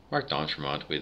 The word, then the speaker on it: Marc D'Entremont: Marc D'Entremont, that's how we say it. We never said it French.